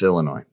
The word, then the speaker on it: Illinois: You spell it that way, but then pronounce it like Anyways, it's Illinois.